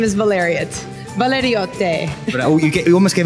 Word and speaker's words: Valeriote: And I'm guessing, say your surname for me, because I'm terrible with pronunciation, but I'm sensing Italian blood here. Yes, my last name is Valeriote.